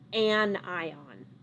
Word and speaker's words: anion: becomes overall negative and now it is an anion so an ion that's how you pronounce it this is overall negatively charged notice